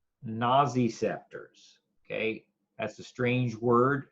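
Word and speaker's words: nociceptors: for you here pain receptors are also called naazy scepters okay that's a strange word and I'll spell it for you pain receptors are also called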